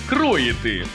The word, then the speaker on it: кроїти: ну буває помилка зафіксували у слові кроїти наголошуємо перший склад кроїти Так нам словник каже